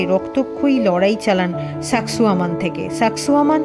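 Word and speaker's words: Sacsayhuamán: লড়াই চালান সাকসুয়ামান থেকে সাকসুয়ামান শব্দটা আমরা একসঙ্গে উচ্চারণ করলেও আসলে কিন্তু তার দুটো শব্দ সাকসা হুয়ামান অর্থাৎ তৃপ্ত বাজপাখি কিছুক্ষণের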